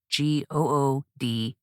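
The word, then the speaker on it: Goode: habits and that is spelled like my last name g-o-o-d-e habits good with a bonus e that being said tonight's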